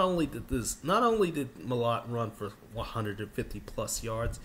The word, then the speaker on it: Mellott: And what Tommy Malott, because I kept getting his name wrong for like 3 weeks, you know, not Tommy Mellott, it's Tommy Malott, you know, this dude has been playing lights out this playoffs.